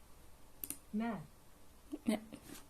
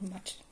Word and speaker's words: matt: I don't know how to pronounce that. Matt. Oh, okay. It's like the German Matt.